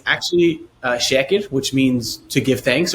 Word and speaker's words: Shaker: away just with just English absolutely so I pronounced it Shaker Medical Group is it Shaker then it is it is it's Shaker in English uh it's actually shacked which means to give thanks or giving thanks